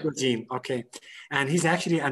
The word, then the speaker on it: Prigogine: the supervision of Elijah Prigogine, I think that's how it's pronounced. That's right. Prigogine, okay.